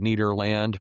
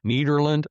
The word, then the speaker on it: Nederland: And by the way, it's Nederland. It looks like Nederland, but we get all sorts of pronunciations. But if you want to sound like you're from here, Nederland, or if you've been here a long time, Nederland.